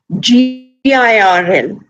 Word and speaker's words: girl: we don't pronounce it like for example in a word like g i r l right girl girl dwil m' par the art is just very faintly hinted you never actually pronounce